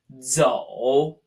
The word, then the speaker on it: 走: And last, we have the verb to walk, pronounced zhou.